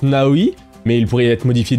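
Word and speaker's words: Naoe: disait l'héroine devrait s'appeler naoé qui se prononce naoi mais il pourrait être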